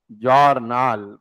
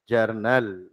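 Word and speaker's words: journal: नल किसान तो है ना जर नल बट आईटी इस व्हाट बेटा जरनैल का मंत्र बेटा है जर्नल हो तू pronounce IT जर्नल जर्नल mains IT इस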